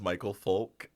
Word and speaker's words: Micheal Foulk: that for you great my name is Michael folk um it's spelled weird but it is my